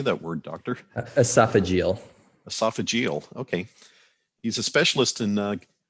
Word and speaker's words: esophageal: how do you say that word doctor esophagal esophageal okay he's a specialist in gastroesophageal reflux disease